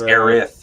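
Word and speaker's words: Aerith: Everybody like I mean you call her Aris. I used to call her Aries and and now it's Aith. Yeah. Yeah. Now they they changed the translation.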